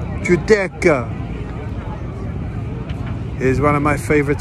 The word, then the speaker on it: Giudecca: Giudecca, pronounced Giudecca, is one of my favorite stops.